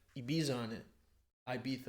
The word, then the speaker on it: Ibiza: said ibiza on it ibiza it's pronounced ibiza and some girls say